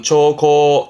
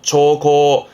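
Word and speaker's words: 兆候: 요게 징후, 조짐 징후의 발음은 초코, 초코.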